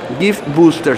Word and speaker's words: Gift Booster: Gift Booster, se escribe Gift, B-U-S-T-E-R, lo va a ver ahora